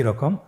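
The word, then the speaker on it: ر: পরবর্তী আরো দুটি হরফ দেখতে একই রকম। দুইটি হরফের নাম হল র এবং যা। র এবং যা। র হরফটি এখানে আমরা পর উচ্চারণ করব। মোটা করে উচ্চারণ করব। এবং র হরফটি এক আলিফ টেনে পড়ব।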